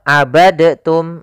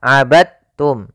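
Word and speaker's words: عبدتم: membacanya eh maaf hati-hati jangan dibaca abadtum ya tapi langsung dimasukkan ke ta abadum bukan abadtum ya Meskipun Dal termasuk huruf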